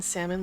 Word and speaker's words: salmon: I don't pronounce the L in salmon like some heathens or Southerners.